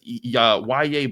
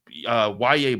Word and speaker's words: Yahya: And that brings us to the other day 3 defensive front addition, and that's Yahya Black. I'm going to still call that guy Yahya, but it's actually pronounced Yahya, and he's the Iowa defensive tackle the Steelers brought in for a pre-draft visit.